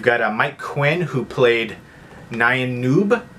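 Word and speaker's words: Nien Nunb: right there and yeah there's been so many different pronunciations I've heard of this but pretty sure George Lucas said Nan Noob so I'm going to go with that and road warrior the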